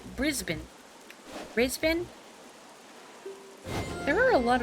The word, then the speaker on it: Brisbane: Pronouncing every letter in Brisbane gives it too much dignity. You say Brisbane.